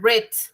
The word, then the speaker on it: read: a encontrarlos como reit el verbo read en pasado se lee red como el color rojo así red my